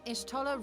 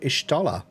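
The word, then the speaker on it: Y'shtola: Ishtola rule. Ishtola. I've always said Ishtola. Ishtola is how you say it. Ishtola.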